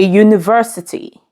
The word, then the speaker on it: university: dog a house a university did You observe the last word began with a vow letter U however when articulated it is PR pronounced as a consonant sound U therefore use the indefinite